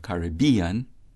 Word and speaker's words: Caribbean: yo that's Spanish right whose syllabic stress like that of Caribbean as we prefer it is on the penultimate syllable B cuyabeno Spanish con